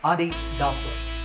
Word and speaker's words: adidas: of its founder's name adi dasa a german businessman so the correct pronunciation is with the stress on the first syllable ah adidas number eight